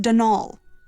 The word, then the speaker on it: Donal: the caretaker Donalda Lanie not Donald mind you there's no D at the end so it's pronounced dnal that's the way you're